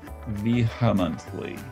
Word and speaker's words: vehemently: now i'm told that i put a little tiny h sound in there after the v vehemently that's a big h